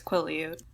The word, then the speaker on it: Quileute: down to La Push Beach, which is the Quileute Reservation, and I really hope I pronounced that right. Yeah, it's Quileute.